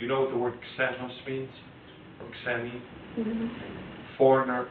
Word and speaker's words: xeno: Do you know what the word xenos means? Or xeni? Mm-hmm. Foreigner or stranger? It's mispronounced in English when people say xenophobia. It's not a Z, a Z, it's an X.